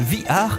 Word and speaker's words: VR: virtuelle playstation oui oui ça se prononce vihar et pavés r ça